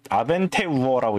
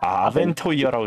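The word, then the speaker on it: Abenteuer: 그리고 이거는 뭐 아벤 아벤테우어라고 읽는 건가? 아 거의 비슷했어요. 근데 토이어라고 있습니다. 아벤토이어라고 거 그렇지.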